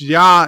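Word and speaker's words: Я: Yosef says the R reverse is pronounced Ya in Russian.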